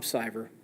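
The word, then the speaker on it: Siver: Uh so, once again, uh my name is Tom Siever. It's spelled like silver without the L.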